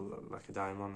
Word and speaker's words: Lacedaemon: Sparta, see, that was called would you pronounce it Lysimedon in English, or Lacedaemon is how I pronounce it.